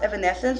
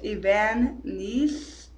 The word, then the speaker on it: Evanesce: up with a song which is not pronounced evanescence which is what i thought it was it's evan nice it's not spelled of